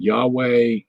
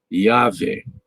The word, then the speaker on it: Yahweh: Anyway, so you would, it looks like it's pronounced Yahweh, Yahweh, Yah. You get the yod sound, the vav sound, Yahweh.